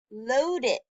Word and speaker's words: loaded: Loaded. Loaded has that id sound at the end, so that goes in the middle here, right?